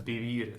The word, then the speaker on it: vivir: on the second syllable, and vivir, the stress is in the same place on the second syllable.